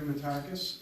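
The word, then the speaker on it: Metakes: State your name, sir, and spell it for me, please. Sure. It's Matakis, M-E-T-A-K-E-S, and I'm the program director for Hope Not Handcuffs.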